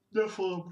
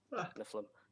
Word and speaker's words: Nephilim: How do you pronounce it again? Nephilim. And I just want to say Niflim.